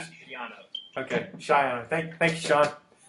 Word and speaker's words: Greg Schiano: Hey, it's actually pronounced Greg Schiano, not Schiano.